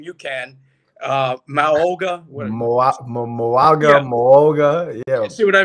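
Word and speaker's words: Mauigoa: So the kid from Miami, I can't pronounce his name. You can. Moaga.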